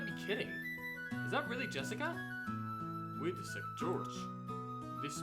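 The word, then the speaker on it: 朱志香: You see, that is pronounced Jessica.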